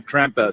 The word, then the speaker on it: Krampus: talking in it, but he's correcting my pronunciation of Krampus in here. You'll see it's not that long, but it's cute. Yeah. That's the real Krampus, yeah? Not Krampus, sondern Krampus, yeah?